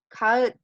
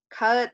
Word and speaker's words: kağıt: Kağıt. Kağıt. Nah, di sini ada yumusak G. Yumusak G nggak dibaca, tapi ditekankan.